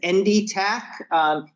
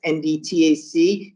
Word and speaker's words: NDTAC: Assistance National Center, which is referred to as NDTAC, is how that's pronounced, NDTAC, the National Technical Assistance Center for the Education